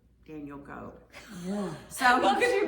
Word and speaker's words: Goeb: It was, I can tell you, it was Daniel Scott Goeb, G-O-E-B, and that's how you Oh.